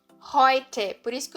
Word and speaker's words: heute: Eu não falo heute, eu falo heute. Heute. Por isso que o som daqui é heute, é Europa, é por isso que esse som muda.